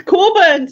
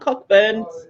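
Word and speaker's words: Cockburn's: po which part that it's curns not cockburns cck burn some your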